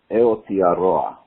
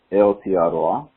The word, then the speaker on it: Aotearoa: Anyway, nothing really having to do with Jewish knowledge, but it is pronounced Aotearoa. Okay, New Zealand, the actual name of New Zealand that the Maoris called it is Aotearoa.